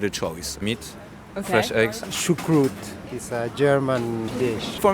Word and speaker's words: choucroute: And how do you pronounce it again? Choucroute. Choucroute.